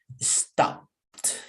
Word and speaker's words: stopped: the p letter p so the pronunciation in past tense is stopped stopped yesterday i was walking